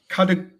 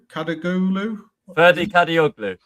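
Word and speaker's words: Kadıoğlu: Apologies if I pronounce this wrong. Kadaglu? Ferdi Kadioglu. There you go.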